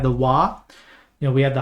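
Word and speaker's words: は: often than not but it you know we have the W you know we have the ha that's pronounced W but only when it's as a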